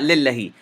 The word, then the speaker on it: لله: This word is lillahi. Lillahi. If you want, you can go back, rewind this video, and notice how I pronounced it. Whenever you see lafzul jalala in the Uthmani Mus'haf, this alif saghira is implied. It's not written, but it is implied. So you should be pronouncing it and spelling it with this alif saghira.